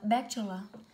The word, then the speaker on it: bachelor: Từ ấy đọc là bachelor.